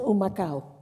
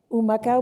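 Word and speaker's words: Humacao: Rico this was in oh macha oh macha which is near the rainforest ooh my cow is begins with an H which is silent in Spanish and what motivated you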